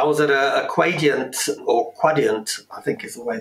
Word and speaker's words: Quadient: I was at a Quadient, or Quadient, I think is the way they tell me I should pronounce it, webinar recently, and we were discussing